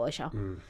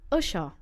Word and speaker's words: Usher: Usher. Say umbrella for me. Umbrella. Umbrella. Now say Usha. Usha. Say unicorn for me. Unicorn. Is it Usha again?